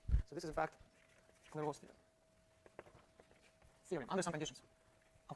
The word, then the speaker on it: Clairaut: So that's actually the general result, which is called Fr002, or I guess if we pronounce it with the French accent, it will be Clairaut.